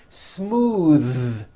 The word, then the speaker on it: smooth: Smooth. Believe it or not, the TH sound in smooth is voiced. Most foreign speakers say this word incorrectly. They say smooth with an unvoiced TH, but it's voiced.